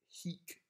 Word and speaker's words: hic: Hic steterat. Now, hic means here, because remember, hic with a long I means here, whereas hic with a short I means this.